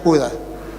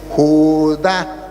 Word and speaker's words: Judá: salvo y él leía Judas al final Judas será salvo le di No hermano aquí dice Judá tiene acento en la la ignorancia es atrevida